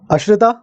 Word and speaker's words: Ash: simple thing you know my name pronunciation wrong Ash AR sorry my bad yeah my bad my bad my bad Ash is is that correct right Ash is correct Ash yeah good okay I'm